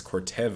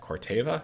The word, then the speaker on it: Corteva: that we're looking at as cortez i don't know why i said it like that corteva ctva that's why they